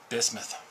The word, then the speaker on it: bismuth: to discuss these crazy things and the proper pronunciation is bismuth bismuth yeah bismuth okay what can you tell